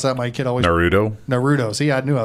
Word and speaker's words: Naruto: of characters from Naraku or nor Otto Howard pronounce that my kid Oh Naruto Naruto see I knew I was saying it